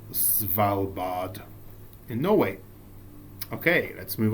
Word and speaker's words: Svalbard: That's pronounced Svalbard.